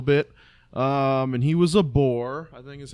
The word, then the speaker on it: Boer: like a little bit, and he was a Boer, I think is how you say it. Boer, yeah. Boer. Oh, okay. Because the way you pronounced it, I was assuming either he was